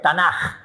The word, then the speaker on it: Tanaj: Nevin, que son profetas, y Ketubín, esta J funciona como K en la pronunciación, pero es J, no es K, no la escriban con K, escríbanla con J, porque es Tanaj, no es Tanaj, es Tanaj, pero se pronuncia como K, en hebreo.